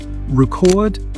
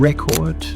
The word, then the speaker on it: record: So the difference here interestingly is not the sound but the stress that we put on different syllables. So we have record which is a verb and record which is a noun.